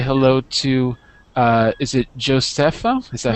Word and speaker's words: Josefa: And let's say hello to, is it Josefa? Is that how do you say your name? Hi. Hi. I'm Josefa.